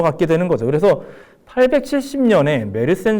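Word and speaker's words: Meerssen: 그래서 870년에 메르센 조약이라고 하는 게 메이에선이라고도 이제 발음을 하는데 그냥 통상 우리가 알고 있는 대로 제가 메르센이라고 얘기를 하겠습니다. 메르센 조약에 따르면 870년에 빨간색의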